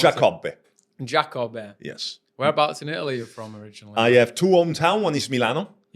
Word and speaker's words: Giacobbe: So, Chris Giacobbe. Almost correct. Giacobbe. How do you pronounce Giacobbe. it? Giacobbe.